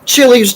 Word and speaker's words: Chile: about in Chile, and Chile's just a country in South America, and I say, Aunt Bob, it's pronounced Chile, first of all.